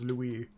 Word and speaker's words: Luis: I know he just said Lewis, but I think he mispronounced his name. I'm pretty sure it's Louis.